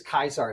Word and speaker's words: Caesar: I was a Latin dork, and apparently there's no soft C. So even it's Julius Caesar. It's not Julius Caesar.